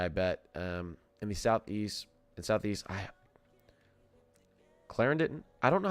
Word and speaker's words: Clarendon: Clarendon.